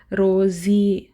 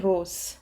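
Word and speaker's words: rose: vowel ಬಗ್ಗೆ ಕಲ್ತುಕೊಂಡಾಗ ಕೊನೆನಲ್ಲಿ ಕೊನೆ ಪದದ ಕೊನೆನಲ್ಲಿ ಈ ಬಂದ್ರೆ ಅದನ್ನ ಉಚ್ಚಾರಣೆ ಮಾಡಲ್ಲ ರೋಜಿ ಅಥವಾ ರೋಜೆ ಆತರಹ ಉಚ್ಚಾರಣೆ ನಾವು ಮಾಡಲ್ಲ ಸೋ ಇದನ್ನ ತೆಗೆದು ಹಾಕಬಿಡ್ತೀವಿ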